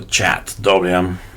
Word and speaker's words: chadwm: CH or chat WM somebody told me recently I shouldn't spell it out CH h a dwm so chat WM and um our configuration